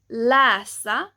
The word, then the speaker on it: läsa: For example, the letter ä can sound like an e depending on the word or the sentence. Let me give you some example. So here we have the word to read, but when you pronounce this, instead of it being läsa, it would be more like läsa, läsa.